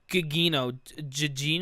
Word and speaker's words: Gugino: It's Carla Gugino, Gugino, right?